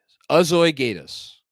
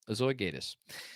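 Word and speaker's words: azoy geyt es: Azoigatus. Azoigatus? I think I got that right. Yiddish for, so it goes. I didn't know that. Azoigatus.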